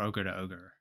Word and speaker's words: ogr2ogr: that is using gdal's ogr2 ogr or ogre to ogre depending on your preferred pronunciation and this is a